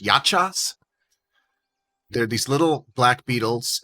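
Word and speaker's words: yahcha: They do tell you that they're pronounced yachas.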